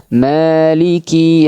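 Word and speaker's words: مَالِكِ: Huruf kaf jangan dipanjangkan bukan. Maiki yaumiddin. Maiki yaumiddin. Maliki yaumiddin. Tiib. Dan jangan sampai kafnya dipanjangkan. Di situ tidak ada huruf mad. Jadi enggak boleh dipanjangkan ya.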